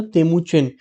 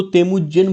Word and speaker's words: तेमुजिन: तेमुचिन, इसको तेमुजिन बोलते हैं बेसिकली हम, ओके। स्पेलिंग CH है लेकिन इसको तेमुजिन बोलते हैं, ओके।